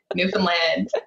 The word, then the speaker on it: Newfoundland: island called Newfoundland and and anyone who wants to say Newfoundland right now I can guarantee you're probably not saying it right you can rewind and try again Newfoundland but we have our